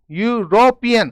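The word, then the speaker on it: European: अब देखिए, कुछ लोग इसको यूरोपियन पढ़ लेते हैं, ई की आवाज निकालते हुए, कुछ बोलते हैं यूरोपियन। अब देखिए, ई साइलेंट होता है, ऐसे केस में आपको ध्यान रखना है। अगला लेटर क्या बोलता है? ये कौन सी ध्वनि निकाल रहा है? यू, यूरोपियन, तो यू की आवाज निकाल रहा है, तो क्या आएगा?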